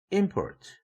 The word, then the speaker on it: import: 예를 들면 import, 수입이라는 뜻이죠. 이 단어를 발음할 때는 스트레스 액센트가 im이라는 음절에 붙는 동시에 피치 액센트도 port에 비해서 im이 높아지죠.